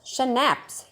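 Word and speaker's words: schnapps: Next is स्नैप्स, pronounced स्नैप्स, शनैप्स, यहाँ आपने शनैप्स pronounce करना है।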